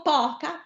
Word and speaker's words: poca: Ma non ho detto poca, ho detto poca. Quindi, che accento voglio? Chiuso. La O. Forza. Poca, abbiamo detto poca. Sì? La O chiusa. Chiuso sulla O.